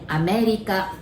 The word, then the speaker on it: Amerika: And welcome to United States, we just simply say America, but we pronounce it America. Remember, we don't have R sound, so America, all right?